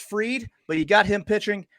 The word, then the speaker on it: Fried: tomorrow you've got a it's spelled fried pronounced freed but you got him